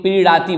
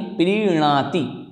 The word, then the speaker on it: प्रीणाति: और एक और समस्या जो प्रीणाति है, ना बोलें, इसमें डा नहीं बोले, नहीं तो कई लोग प्रीड़ाति बोल देते हैं, तो प्रीड़ाति नहीं प्रीणाति इस प्रकार से अगर उच्चारण करते हैं तो निश्चित ही हमारा शुद्ध उच्चारण होगा।